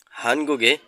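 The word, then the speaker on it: 한국의: হানগুগে কোরিয়ার উই শব্দের শেষে পার্টিকেল আকারে বসলে উই না হয়ে এ উচ্চারণ হয়, যার অর্থ র বা এর। হানগুগে কোরিয়ার দোসি শহর।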